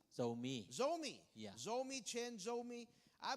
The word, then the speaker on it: Zomi: I think the same, how do you say Zumi? Zomi.